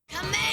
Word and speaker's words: Kamehameha: out while powered up, they pronounced it the same way I've done here. “Ka-me-ha-me-haaaaaa!” But when it was simply being spoken of, it became... “Kuh-may-uh-may-uh.” That's closer to how English speakers refer to the Hawaiian King name but is